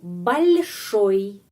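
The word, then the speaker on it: большой: Karena o i pengucapannya seperti i huruf i. Oi, oi. Jadi itu balsoi. Hanya satu kata tapi beberapa peraturan ya. Ada penekanan, ada tanda pelemah yang melemaskan huruf L dan bagaimana pengucapannya I setelah ee huruf vokal.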